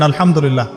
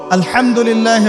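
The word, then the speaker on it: الحمد لله: আপনি পড়ছেন আল্লাহু আকবার আলহামদুলিল্লাহি রাব্বিল আলামিন এইতো আপনি পড়ছেন আলহামদুলিল্লাহ শব্দটা কি আলহামদুলিল্লাহ এই হা এর মাখরাজ কোথায় হা এর মাখরাজ কোথায় বলেন একজন কণ্ঠনালীর মাঝখান থেকে এখান থেকে আপনি উচ্চারণ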